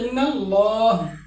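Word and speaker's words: إن الله: যেমন ইন্নাল্লাহা। আল্লাহ শব্দের আগে জবর রয়েছে। এ আল্লাহ শব্দের লামকে মোটা করে উচ্চারণ করতে হবে। ইন্নাল্লাহা। এটা লা হবে না। এটা হবে ইন্নাল্লাহা।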